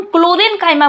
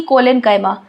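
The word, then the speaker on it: chlorenchyma: यहां पे हम क्लोरेंकाइमा बोल रहे हैं ना कि कोलेनकाइमा।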